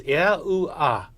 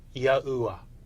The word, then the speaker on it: Yahuwah: When these letters for God's sacred name are pronounced out together in their vowel forms, they would be pronounced as Yahuwah or Yahuwah.